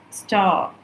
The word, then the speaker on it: ஸ்டா: இது வந்து அந்த இரை வந்து ப்ரொனவுன்ஸ் பண்ண மாட்டோம். அந்த வைப்ரேஷன் இருக்கும். ஆ அப்படின்னு ஒரு வைப்ரேஷன் இருக்கும். அதான் என்னன்னா STARனா ஆ. இது ST ஸ்டா ஸ்டா அப்படி ப்ரொனவுன்ஸ் பண்ணுவாங்க.